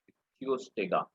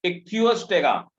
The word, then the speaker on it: Ichthyostega: दूसरा वाला है इक्थियोस्टेगा, मैं इसकी भी शक्ल आपको दिखा देता हूँ। इक्थियोस्टेगा, देखो ये पाया नहीं जाता, ये ऐसे मतलब एनिमेटेड टाइप का डायग्राम है, ये कैसे इक्थियोस्टेगा।